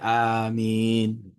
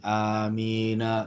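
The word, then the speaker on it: آمين: Bacanya amin. Berhenti. Jangan amina. sambung gitu. Jangan. Oh, aminnya ya. Karena kedudukannya sebagai suara-suara. Iya. Seperti suara gitu kan. Jadi dia amin bukan amina gitu.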